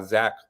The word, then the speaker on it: Zech: for for zach well my full name is actually is pronounced zechariah but i've been going by zach my whole life just to make it